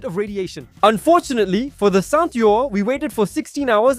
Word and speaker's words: Saint-Yorre: We also tested Saint-Yorre. Is that how you say it, Saint-Yorre?